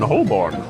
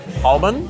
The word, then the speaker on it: Holborn: I mean, I'm staying at the Thistle London Holborn. Oh, yeah. That's not how you say that. I don't Well, how do you say it? Holborn?